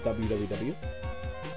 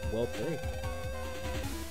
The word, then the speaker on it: WWW: I believe it's meant to be pronounced World 3. World 3? World 3. Everybody I know that played them called them the WWW.